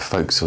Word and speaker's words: forecastle: Well, called the forecastle, shortened from forecastle, but forecastle is the way it's always pronounced.